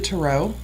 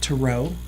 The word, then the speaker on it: tarot: i do read the Tarot that's how you say it by the way to row cards as opposed to tarot cards right because that's